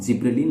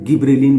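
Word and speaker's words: gibberellin: कोई इसको गिब्रेलिन भी पढ़ते हैं, तो आप गिब्रेलिन और जिब्रेलिन कोई दिक्कत नहीं है, जो भी आप उच्चारण करें, परंतु लिखना तो आपको GIBB से ही शुरू करना है ना, यानी जिब्रेलिन गिब्रेलिन जो भी हो ठीक है।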